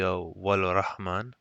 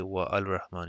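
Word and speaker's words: والرحمن: And here too, for example, you would say wal rahman. You would not say wa al rahman here because it's hamzatul wasl.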